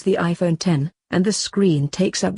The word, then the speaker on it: iPhone X: leap forward since the original iPhone it's not pronounced - necks by he way it's the iPhone 10 and the screen takes up the whole of